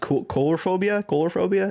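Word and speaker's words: coulrophobia: It's I believe pronounced colorophobia.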